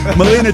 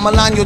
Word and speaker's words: Melania: Melina Trump. Melania, you Melania. Say her name right.